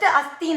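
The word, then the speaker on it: अस्थि: Just asthi naka irukku nu artham, it is there. Parvataha asti, pustakam asti, apna book is there, parvatam is there அப்படினு அர்த்தம். Asthi, when we pronounce it correctly, that means bone.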